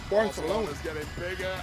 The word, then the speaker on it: Barcelona: It's got a little lisp in it. It's Barcelona.